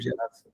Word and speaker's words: Gerasa: É Gerasa ou é Geraça? Só para não errarem na hora. Tá sem áudio. Gerasa, Gerasa? mano. Ok. Isso, Gerasa.